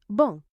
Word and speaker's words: bon: Bong. Bong. It means good. Bong. The N on the end is a nasal sound.